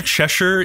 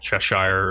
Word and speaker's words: Cheshire: you say that that it's either chesher if you're like British or like Cheshire if you're American like us I always spread as